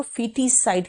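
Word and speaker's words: foeticide: दी जाती है तो फिटी साइड कहलाता है ओ यहां पर साइलेंट है याद रखना यह फीटी साइड है नियो नेटी साइड देखो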